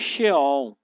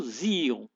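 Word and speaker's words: Xeon: vamos lá penum 2 xon ou Zion né muitos falam Zion outros falam xon vai depender né Cada um fala a sua pronúncia né foi construí especialmente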